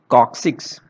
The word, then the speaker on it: coccyx: the sacrum and the coccyx, okay, this is pronounced as coccyx.